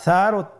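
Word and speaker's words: ث: আর সারও তিনটি নোক্তা রয়েছে, সেটা হলো তার উপরে। তাহলে তিন নোক্তাওয়ালা হরফটিকে কি বলে? সা। আবার বলুন সা। হরফটি বারিক মানে পাতলা করে উচ্চারণ করতে হবে।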